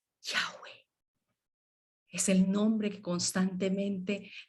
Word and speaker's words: Yahweh: El nombre de Yahweh no tiene ninguna pronunciación tosca como la K, la R, la T, la M. Es solamente un soplido. Yahweh. Yahweh.